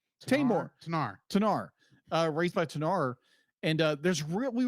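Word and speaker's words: Tenar: And then she was raised by how do you pronounce her name? Tanar.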